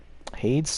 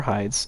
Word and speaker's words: Hades: Hades Tower of Flame, or Hides, depending on your pronunciation.